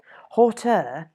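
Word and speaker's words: hauteur: toot it is all very gentle and pleasant horter is spelt h-a-u-t-e-u-r another word not used much today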